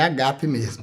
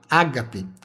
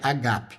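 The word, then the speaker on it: ἀγάπη: E enquanto substantivo é agape, que é o amor e é agape mesmo, tá bom? Eu sempre faço questão de falar isso porque as pessoas acostumaram tanto com ágape que não reconhece a pronúncia agape, mas no grego a pronúncia e a escrita é agape, é o amor de Deus.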